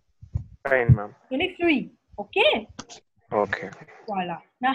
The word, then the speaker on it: fruits: You don't pronounce the T and the S. Fine, ma'am. Only fruit.